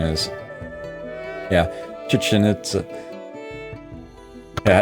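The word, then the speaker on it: Chichén Itzá: It is hard not to, and I think that's actually pretty close to the proper pronunciation. Yeah, it's just really not a K.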